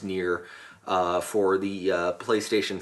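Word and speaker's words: Nier: to uh to uh the game called near n i e r pronounced near uh for the uh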